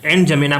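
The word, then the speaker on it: N'Djamena: एनजमेना, इसको डी जो है साइलेंट है, एनजमेना पढ़ते हैं इसको।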